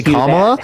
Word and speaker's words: Kamala: stream so you got one shot either say comma or say Harris comma why would you kick somebody for a mispronunciation why yeah because because it's a microaggression